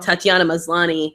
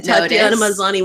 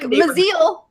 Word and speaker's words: Tatiana Maslany: Nobody seemed to notice that when Tatiana Maslany won, he said to Tanya Mosley. No, yeah, straight up. You just put the wrong emphasis on the wrong syllable.